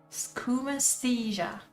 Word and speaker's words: Skoomaesthesia: what is the proper what is the proper pronunciation for the name of the mod schumastheiser schoom anesthesia there you have it the rip derivative of